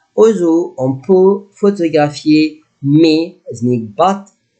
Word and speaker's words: mais: In this week, you will write au zoo, on peut photographier, mais, is meaning but. Look at letter S, I will not pronounce it.